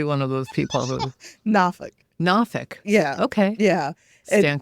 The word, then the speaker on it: Norfolk: people who are not from there call it Norfolk and I just something in me dies a little bit you pronounce it again because I might be one of those people who nafik nafik yeah okay yeah stand corrected I grew